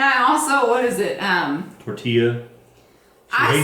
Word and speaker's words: tortilla: Tortilla.